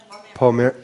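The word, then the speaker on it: Pomerleau: It's Pomerlou. Pomerlou. Pomerlou. His first name is Denis.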